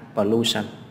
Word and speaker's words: pollution: Khi một từ kết thúc bằng đuôi sần thì trọng âm là gì? Âm tiết đứng ngay trước đuôi sần thì là 2, pollution.